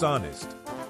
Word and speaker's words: honest: The correct answer is the letter H. The H is silent.